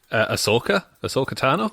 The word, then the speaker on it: Ahsoka Tano: No, Do you know how to pronounce the name better than me, please? Ahsoka Tano.